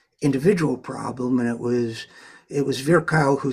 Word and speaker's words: Virchow: Jabr, which is Rudolf Virchow, who was Virchow, I guess is how it's pronounced, considered the father of social medicine, who